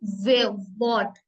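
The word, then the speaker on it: Wort: ठीक है नेक्स्ट है डब्लू डब्लू के साइंड वे वे जैसे की वे ट वट है ना तो वे साउंड आ रही है वट mean वर्ड एक्स एक्स को हम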